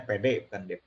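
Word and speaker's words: PD: hatinya lawannya dari copyright ada tulisan DP ini bukan Dewi Perssik publik domain sebenarnya bacanya pede pede terus ada juga yang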